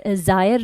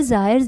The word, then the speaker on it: Zaire: नीचे बहती है जायर river, I hope the pronunciation is this only, but the spelling is ZAIRE। ठीक है, सो यस, जायर river is also there which is also known as Congo river.